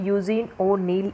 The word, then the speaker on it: यूजीन ओनील: यूजीन ओनील इसकी correct pronunciation है।